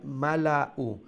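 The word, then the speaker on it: الملؤا: অর্থাৎ কি হইব, হামজা পেশ কিতা হয় উ, তাড়াতাড়ি। তো মিমজোর মা লামজোল্লা হামজা পেশ উ, মালা উ নানি।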